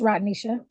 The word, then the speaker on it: Rodnisha: It's Rodnisha. Rodnisha. Okay. It's said like it's spelled.